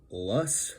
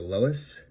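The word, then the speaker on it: loess: And today we're going to be talking about the Mississippi Valley lus or Lois or Lur, many different pronunciations plains.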